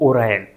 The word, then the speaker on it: Oryon: ORYON इसका जो spelling है वो है, लेकिन बोला जा रहा है इसको ओरायन।